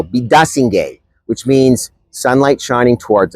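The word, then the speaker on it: Biidaasige: It's the largest to open in Toronto in a generation and includes the new park and again I hope I get the pronunciation right Bidasi no bidasing which means sunlight shining towards us.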